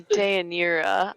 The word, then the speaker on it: Deianira: He mispronounces it like 4 times, and then you just give up after a little while. I And just he's like, say, you know, "Dinara." that's exactly it. You nailed it.